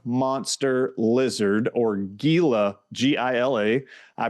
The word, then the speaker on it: Gila: Some of those peptides are a Gila monster lizard, or Gila, Gila. I pronounce it Gila.